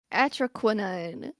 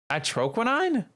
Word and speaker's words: Atroquinine: Atroquinine.